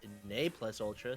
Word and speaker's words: Ne Plus Ultra: Excuse me, Ne Plus Ultra, since we've found out that's how you pronounce it.